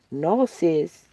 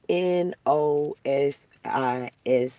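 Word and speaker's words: gnosis: Nosis, it's spelled G. In the Greek, it's spelled G N because the G is silent. Uh G N Yeah, G's moving. Silence. G N O S I S is nosis.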